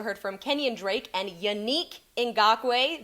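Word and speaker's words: Yannick Ngakoue: from kenyon drake and yanique in gaque that's how we say it now i had to ask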